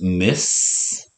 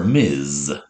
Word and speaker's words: Ms: our next one can be pronounced miss or miz and miss or miz